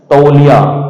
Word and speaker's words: तौलिया: तौलिया क्या शब्द है, तौलिया। अपने तो तवाल कहते हैं, तौलिया तो अपने बोलते हैं तो उसमें बहुत बोलने में हम शुद्धिकरण नहीं करते, वो शब्द हम आधे या उनको सही उच्चारण नहीं हमारा।